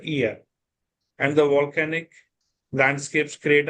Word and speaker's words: Oia: OIA is pronounced as Ia, not Oia, rather Ia.